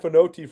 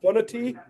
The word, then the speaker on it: Fonoti: I've been saying Malai Fonoti forever, but it's Fonoti.